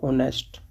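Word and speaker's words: honest: एच से होते हैं, लेकिन एच यहाँ पर साइलेंट है, और इसका जो प्रोनाउंसिएशन होगा वो ओ से शुरू होगा, ऑनेस्ट। तो यहाँ पर आप देखेंगे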